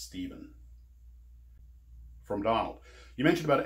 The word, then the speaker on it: Stephen: Making of Star Trek, I pronounced it as Stefan, and several people who spell that name with the PH reminded me it's pronounced Stephen.